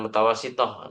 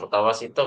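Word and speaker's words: متوسطة: sudah terbiasa MTS MTs Madrasah Tsanawiyah bukan mutawasitoh seharusnya mutawasitah bu ya Tib lanjut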